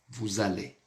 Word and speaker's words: vous allez: Parce que ici c'est une liaison obligatoire. Aqui nós temos uma ligação obrigatória, tá? Então sempre, sempre, sempre, toujours, toujours, nous allons avoir comme vous allez.